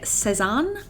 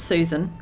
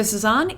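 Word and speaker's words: Sézane: It is time to shop the Sezane website. I think that's how you pronounce it. I don't think it's Sezane. Don't think it's Susan. It's definitely not Susan.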